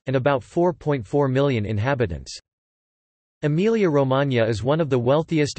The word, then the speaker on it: Emilia-Romagna: Emilia-Romagna, Italian pronunciation, E-M-I-L-J-A-R-O-M-A, Emilian and Romagnol, Emilia-Romagna, is an administrative region of northeast Italy comprising the historical regions of Emilia and Romagna.